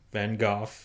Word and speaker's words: van Gogh: it's about mitts in Van Gogh it is pronounced van Gogh and don't at me because that's actually what's